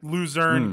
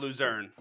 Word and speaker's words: Lucerne: great cheese out of lucerne okay great cheese shout out lucerne's cheese they got good dairy farms out there i feel like that's true shout out laverne from scrubs rhymes with lucerne laverne again that's the